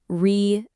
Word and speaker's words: resilience: Let's start with the word resilience. Many learners struggle with the li sound in the middle. Listen carefully. Re-sil-yence.